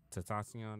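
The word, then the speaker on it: XXXTentacion: Tatasion, that's how you say his name.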